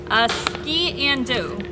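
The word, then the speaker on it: sgian-dubh: All right, somebody told me how to pronounce it. Ski-and-do, which turns out to be a Scottish sock knife, is what they said.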